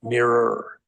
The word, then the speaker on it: Miru: In South Korea, the machine used in their vote systems there is called Miru, but they pronounce it mirror. So it's m i r u. So it's the mirror system.